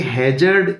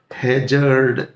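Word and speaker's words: hazard: ठीक ठीक ऐसे ही है जर्ड एक नाउन है ध्यान दीजिएगा इसका प्रोनंसिएशन हजार्ड नहीं बोलेंगे हैर्ड इसका प्रोनंसिएशन है हैर्ड ठीक है हैज एक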